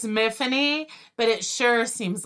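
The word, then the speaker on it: Myfanwy: main character's name is miffany it's a welsh name spelled n m-y-f-a-n-d y where the w is silent so it's like tiffany with an m and it's not so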